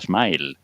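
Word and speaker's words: smial: you can write Smile That is, it is pronounced Smile So that misleading spelling has kept us all my life, at least me saying mial As Pablo says So the jobis live in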